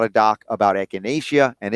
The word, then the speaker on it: echinacea: you say it right it is echinacea not euthanasia right yes did somebody say